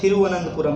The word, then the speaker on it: तिरुवनंतपुरम: लिखा है तिरुवनंतपुरम, बोला जाता है थिरुवनंतपुरम, तो इसका जो इंग्लिश